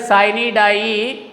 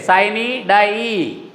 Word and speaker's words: sine die: The Lok Sabha adjourned sine die. See the pronunciation there, sine die, not sine die. Don't pronounce it like that.